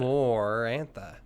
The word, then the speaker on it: Amarantha: Amarantha does not have the sound more in it. Amarantha.